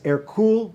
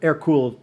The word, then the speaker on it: Hercule: france eventually his name his birth name was air cool de valois but he was small he was not a hercules character air cooled the french pronunciation pronunciation of hercules and later